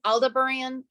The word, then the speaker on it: Aldebaran: It's Aldebaran. I don't know how to pronounce shit.